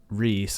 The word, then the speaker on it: RXII: Marked by 8, and Reese, or RXII. I'm pretty sure you say his name Reese.